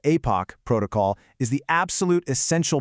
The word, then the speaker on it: Aepoch: By putting these two things side by side, we're going to see exactly why the epoch, and yes, that's pronounced Apoch protocol is the absolute essential base layer we need right now.